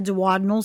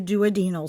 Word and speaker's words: duodenal: Just like April Lauren just got a duodenal switch. Some people say duodenal switch. It's like that. I wouldn't give her shit for that, but it can be pronounced either way.